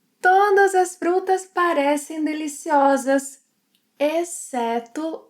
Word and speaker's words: exceto: Our options are todos, exceto a Maria, comem arroz e feijão todos os dias.